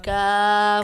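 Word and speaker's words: ق: কফ কফ কফ হরফটি মোটা করে উচ্চারণ করতে হবে।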